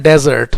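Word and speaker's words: desert: रहता है बच्चों को अगर spelling D ई एस ई आर टी है तो उसको हम बोलते हैं डेजर्ट डेजर्ट का मतलब रेगिस्तान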